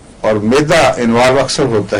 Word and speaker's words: Aurum: छपाकी वगैरह में, तो आरम ट्राइफिलम, आरम म्योर नहीं, उसकी स्पेलिंग अलग अलग हैं। औरम है एक, उसका तलफ़्फ़ुज़ है औरम, ये गोल्ड है और AURUM लिखा जाता है, और एक है आरम, मैं आरम कह रहा हूं इस वक्त, जो